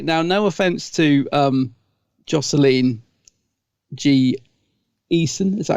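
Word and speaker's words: Jocelyn Jee Esien: I was going to say, now, no offense to Jocelyn G. Eason, is that how you say her name?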